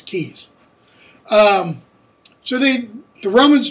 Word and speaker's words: Caius: of cambridge england university keys i know how in the world do you get keys from that it looks like gaius and caius but it's in cambridge it's keys um so they the